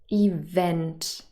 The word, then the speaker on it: event: with two syllables but they are all stressed on the second syllable event hotel police so they